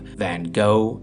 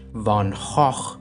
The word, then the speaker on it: Van Gogh: convenience this is because the American pronunciation of Van go is an Abomination as is the British vanoff and using the Dutch Von Hof seems pretentious and produces Flem artist Vincent